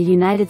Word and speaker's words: United: an honest woman similarly when the first letter of a word is a vowel but is pronounced with a consonant sound use a as in